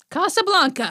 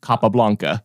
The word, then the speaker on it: Capablanca: is it by again capablanca Casablanca yeah you're mispronouncing it Mar Jose Raul capablanca Kasa as is a place in in in Morocco here's looking at you